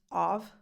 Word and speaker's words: of: Did I stop to pronounce of?